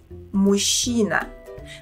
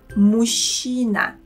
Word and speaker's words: мужчина: Notice that here we pronounce the sounds ж and ч as one long sound ш. Okay, now follow me and try to imitate my pronunciation. Мужчина.